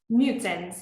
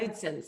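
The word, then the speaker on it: Knudsen: which um I believe the last name is pronounced nudson is that correct nudson y nudson I was close um and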